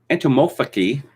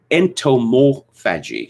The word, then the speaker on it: entomophagy: Entomophagy, sorry, I've mispronounced that, I'm sure. Entomophagy, sorry, that's better.